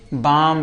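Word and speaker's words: balm: जैसे कि हमने लिखा है बी ए एल एम। इसको हम क्या पढ़ेंगे? बाम पढ़ेंगे। बाल में नहीं पढ़ेंगे। गलत माना जाएगा।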